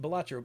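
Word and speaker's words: Balatro: Uh the one that I've been playing the most here lately is Bolatro Batro, however you say it. Whenever anyone asks the the creator, Local Thunk, he says it's pronounced bellatcho, but he types it out.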